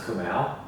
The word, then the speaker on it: Kumail: Because in the movie, there's a scene at the end where I correct him, where I'm like, by the way, it's pronounced Kumail.